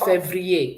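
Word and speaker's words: février: February is pronounced Febru.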